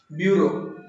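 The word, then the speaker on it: burrow: Spelling है B-U-R-R-O-W, ब्यूरो।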